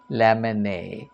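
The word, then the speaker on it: Lamennais: m e n n a r i s pronounced Lon he was a Catholic priest uh a monk so Abbe lemon uh he belonged to an aristocratic comparatively aristocratic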